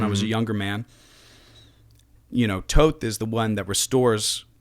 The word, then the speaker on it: Thoth: Okay, me saying Thoth is just a little bit of Western westernization.